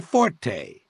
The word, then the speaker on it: forte: She plays the skin flute, and her fort is playing forte. Look it up if you don't believe me. And don't give me that whiny shit. Forte is listed as the second preference. There's a reason it's second, because it's not first.